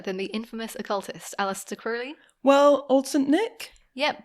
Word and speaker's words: Crowley: even said to people it's pronounced Crowley to remind you that I'm holy but my enemies say Crowley in wish to treat